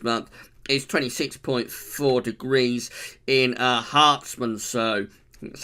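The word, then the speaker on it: Herstmonceux: The maximum temperature this month is 26.4 degrees in Hartsmansow. That's how you pronounce it, in East Sussex, and also 27.2 at Heathrow on the 29th.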